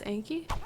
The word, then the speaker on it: Anky: Why do you pronounce it like Inky? It's Anky? Yeah, I said Anky.